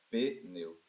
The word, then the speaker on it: pneu: que você tá falando ó pneu não parece que tem duas sílabas parece né Aí você tem a vontade de fazer isso aqui ó não existe sílaba sem vogal se você fizer ISO vai ficar só o P na sílaba pode ficar só o P na sílaba não pode por qu porque não existe sílaba sem vogal então a palavra pneu só tem uma sílaba a palavra pneu só